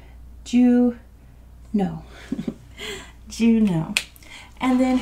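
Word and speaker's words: Juneau: one for you too it's just pronounced Jew no do you know and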